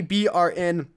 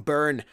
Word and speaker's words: BRN: Kuza told me to call him BRN because that's the proper way to say him, because Kuza means something else in his language.